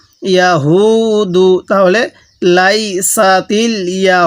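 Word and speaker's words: يهود: ইয়া জবর ইয়া, হা ওয়াও পেশ হু, দাল পেশ দু, ইয়া হু দু। তাহলে লাইসা তিল ইয়া হু দু। এই হাটা উচ্চারণের সময় মুখ দিয়ে হালকা আওয়াজ বের করব, তাহলে এই হাটা সহি উচ্চারণ হবে।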